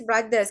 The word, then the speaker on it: Bros: Bros is brothers, okay, that's how we pronounce it.